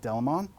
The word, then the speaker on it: Delamain: This is called Delamain. Some people pronounce it Delamon.